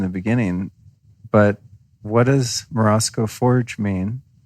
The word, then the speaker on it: Morozko: Yeah, so Morozko, which is the way I pronounce it, I haven't really heard very many Russians, write in and tell us. Yeah. Morozko. Sounds right. Yeah. I just try to say it with a Russian accent.